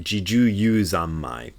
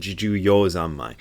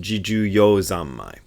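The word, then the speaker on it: 自受用三昧: Almost everybody else in the Zen sect pronounces it Jiju-yu Zammai. And Nishijima Roshi always said Jiju-yo Zammai. And if you look at the kanji characters for it, it should be pronounced Jiju-yo Zammai. I even showed this to Japanese people, and they said, yep, definitely Jiju-yo.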